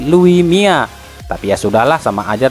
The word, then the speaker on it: Luis Milla: tulisannya Louis Milla tapi kalau orang Spanyol itu dibacanya bukan Luis Milla tapi Lui Mia tapi ya sudahlah sama